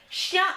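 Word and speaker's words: chien: yes jake you're right you have shah shia and chaval so you can just pretend the dog the cat and the horse are having a secret conference so sha is cat shia is dog and cheval is horse so remember shh that's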